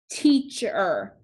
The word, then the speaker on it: teacher: and code teach so we have diagraph EA the E is making the long sound the a is silent we have diagraph CH